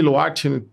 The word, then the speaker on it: Lwart: O W dali toda, né? Exato, um T mudo no final. Então, pronúncia diferente.